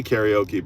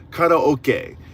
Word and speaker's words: karaoke: First of all, karaoke, it's pronounced differently in Japan. We say karaoke, but it's karaoke and ka means empty and ok means orchestra.